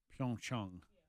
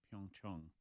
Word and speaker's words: Pyeongchang: They were saying it wrong, right? Pyeongchang. Pyeongchang. Everybody on NBC says Pyeongchang, even though it's incorrect. They've been told by their bosses to say it that way because, quote, it sounds better.